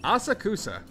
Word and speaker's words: Asakusa: Asakusa. I hope that's the proper way to pronounce that.